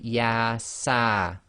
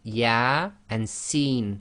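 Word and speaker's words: Yā Sīn: with these single letters they effectively are pronounced as the name of the alphabet not the sound so here you cannot say yes sir it would be yeah and seen so that's both the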